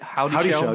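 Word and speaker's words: Houdyshell: How do you pronounce her name? Howdy Shell.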